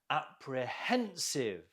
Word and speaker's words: apprehensive: Apprehensive. Apprehensive. Note the stress on the hen.